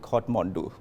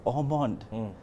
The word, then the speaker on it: Ormond: So it's mispronounced all the time. So some people are like Hotmondu, and some people are like Ormond. I'm like, no, it's Ormond.